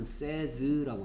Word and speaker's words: says: 이거 학생들한테 읽으려 그러면 이게 say니까 says라고 하는데 이거 발음은 says라고 해야 돼.